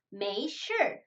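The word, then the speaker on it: 没事: 5시에 이렇게 읽어줍니다 그다음 메이 슐 괜찮습니다 괜찮습니다 라 해야 인데요 메이 슐 메이 슈 슈 발음할 때 하루 몸을 굴려 주어서 슐 이렇게 읽어주세요 그다음 매우 5 원래는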